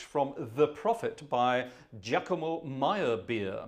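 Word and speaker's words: Meyerbeer: The Prophet by Giacomo Maya beer Maya bear it should be pronounced uh a sort of German Austrian not Italian composer um wonderful the coronation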